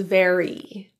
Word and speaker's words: very: it was a pleasure the letter Y in very is pronounced as an e sound the common issue with non-native English speakers is to use a more neutral I resulting in ver versus very if this is you